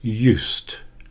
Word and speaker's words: used: bake chocolate cakes now I have a d on the end of use used but it's pronounced as a t sound used I used to bake